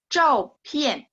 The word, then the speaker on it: 照片: 照片, 照, nada 4. 片 juga nada 4. Ingat P baca PH. 照片, 照片 artinya foto. 照片, foto ya. 照片.